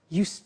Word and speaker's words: used to: have now we use used to look at the spelling s it's it's u e d and then t o but the pronunciation is not used it's us unusual used okay so the example